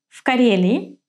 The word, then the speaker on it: в Карелии: You see that I do not pronounce v exactly as v. As we saw in one of the lessons before, v becomes voiceless if the following consonant is voiceless.